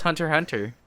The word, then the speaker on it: Hunter x Hunter: I have not seen hunter x hunter yes I will pronounce the X no it's hunter hunter how dare you I